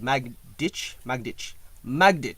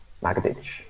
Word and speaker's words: Magdych: But Magdych. Yes. So the accent is on the mag. Magdych. Yes. Okay. So Magdych.